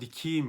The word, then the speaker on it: dikeyim: seni oraya dikeyim bakın Sonra da yine dikeyim diye yazılır ama harfler alması kuralı sebebiyle dikim şeklinde telaffuz ederiz Evet Umarım katkı sağlamış